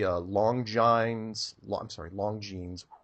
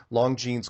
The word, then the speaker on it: Longines: Watch the Longines, pronounced that wrong, Longines chronoscope from 1954, where he goes on national television and says that Antarctica is made out of money.